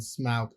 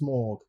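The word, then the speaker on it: Smaug: Not the Hobbits when smog turns up which should be pronounced smorgg.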